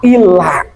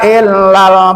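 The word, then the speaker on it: إلا: Maka hamzahnya di sini termasuk ke kata ilah. Nah, alaina illal balagul mubin. Illal, nah gitu bacanya. Jangan antara musadah dengan tidak tuh sama aja, bedakan. Ada musadah dibentak suaranya. Illa, segitu kan. Jangan ila kemana?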